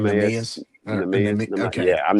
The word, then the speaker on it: Neemias: yeah, His first name, Neemias.